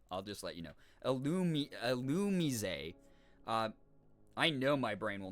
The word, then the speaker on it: Illumise: Illumise. I know my brain will not remember that because I've been saying it wrong for so long, but I appreciate that. Illumise. Mise. Oh, is it like French?